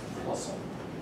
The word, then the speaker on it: Poisson: How do you pronounce it? Poisson.